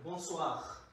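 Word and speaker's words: bonsoir: কিন্তু নিয়ম বলে যে এখানে র উচ্চারণ হবে, র উচ্চারণ হইতে হবে, বনসোয়াহ। আপনারা নিশ্চয়ই শুনছেন বনসোয়াহ।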